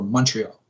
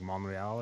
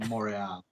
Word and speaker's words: Montreal: Isn't it like Montreal or something if you say it properly? Yeah, if you say it actually properly, it's like Montreal.